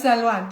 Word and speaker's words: Salwa: It's an annual thing that I love to invite Salwa or Sally, as those who can't pronounce her name will call her. It's Salwa, just learn. That's it. Salwa, it's like Sharon, not Sharon.